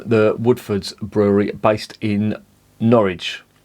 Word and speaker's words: Norwich: woodfords brewery based in norwich or nard as they pronounce it with their six